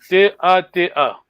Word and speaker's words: Tata: Você só escreve T-A-T-A. Mas, lendo, lembra-se que é uma vogal longa.